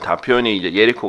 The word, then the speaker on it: 예리코: 영어 든 히브리어 든 , 예리코 (Jericho) 가 올바른 발음 입니다 .